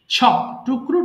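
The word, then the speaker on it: chopped: buried Barrett ছপ ছপ ছপ টুকরো টুকরো করে কাটা সবাই বলবো ছপ টুকরো টুকরো করে কাটা ছপ ছপ্ট ছপ্ট এটা আবার কেউ চপেড বলো না কিন্তু হ্যাঁ তাহলে মুশকিল এটা কিন্তু ছপ্ট হবে ছপ্ট ছপ ছপ্ট ছপ্ট ওকে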